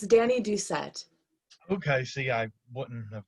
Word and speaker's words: Dani Doucette: because i don't want to say your last name wrong no worries it's danny ducette okay see i wouldn't have gotten that